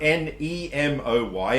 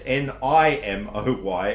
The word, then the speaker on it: Nimoy: It's not Nemoy, it's Nimoy, and it's pronounced Nimoy, not Nimoy.